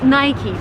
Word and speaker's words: Nike: busca Nike shoes the correct way to pronounce this brand name is Nike but that's very American if you travel abroad people would say naik but the right waist